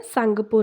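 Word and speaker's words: Tsangpo: Okay, T silent है, सांगपो river.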